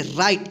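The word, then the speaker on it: right: पे देखिए आर आई जी ह टी देखिए राइट इसको क्या पढ़ते हैं राइट देखिए यहां पे ग क्या हो गया साइलेंट हो गया तो ये सारा के सारा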